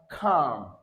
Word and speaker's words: calm: So by transcription now the k sound here first of all come under cal. All right followed by a l taken as a together will give us this sound.